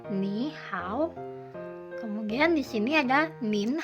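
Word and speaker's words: 你好: Tidak dibaca full nada ketiganya. Ni hao.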